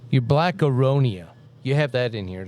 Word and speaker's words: aronia: So things like Your black aronia. You have that in here. Did I say it right? Aronia? yes.